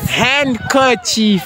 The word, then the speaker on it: handkerchief: Handkerchief. The D is silent, my chief. Yeah. Spelled handkerchief.